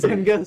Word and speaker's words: Zemgus: Zemgus.